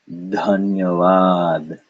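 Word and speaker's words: धन्यवाद: interest to you because this is actually the first syllable of what? Dhanyavad. Yes, maybe you've had the experience of someone correct you saying, oh, you're not saying that right. This is aspirated dha followed by na.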